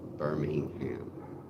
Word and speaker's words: Birmingham: We pronounce the G, Birmingham.